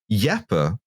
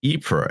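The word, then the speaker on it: Ypres: yeah no i i went to yepper uh or ipra if you prefer or wipers if you want the british pronunciation and it's yeah no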